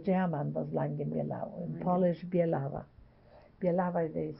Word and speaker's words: Bielawa: And from Katowice, we went to Langi Bielaw. And then my husband, with a partner, opened a store.